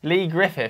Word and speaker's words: Griffiths: Griffis Lee Griffith Griffith I'd say hey Lee Griffis Lee Griffith the H is silent regretted brilliant ah just